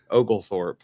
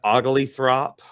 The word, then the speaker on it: Oglethorpe: you pronounce that again ogal Thorp I just say ogal and then Thorp afterwards yeah it doesn't seem like it'd be that hard for people to pronounce you know said ugly throp ogul forp uh just some of